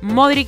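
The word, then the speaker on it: Modrić: sino en levantarse cada vez que te caes modric se pronuncia así después de que en una semana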